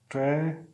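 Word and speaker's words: tragedy: ज साउंड आएगा जे का, ट्रेजेडी, ठीक है।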